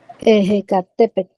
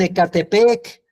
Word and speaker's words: Ecatepec: Ejecatepec. Ejecatepec. Yo no sé por qué le dicen Ecatepec, pero así no era.